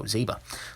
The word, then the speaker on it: Zeba: focus there you go Zeba like zebra minus the uh but uh anyways favorite